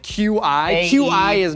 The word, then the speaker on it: qi: the word is qi, right? As in like the flow of energy that like goes through your body, but it's spelled QI. Like, why does the Q make a ch sound? Why isn't it CH?